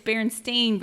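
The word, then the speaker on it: Berenstain: No, it's Baron Stain Bears. So people remember it's bear and seeing bears, but I think people were just saying it wrong.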